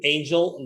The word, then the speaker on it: Angel: look for my name angel that last name is spelled angel is like an angel from heaven a-n-g-e-l right so and